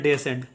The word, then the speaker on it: descend: ठीक है, उसी प्रकार से अब नेक्स्ट देखिएगा, DESCEND का उच्चारण करते हैं डेसेंड।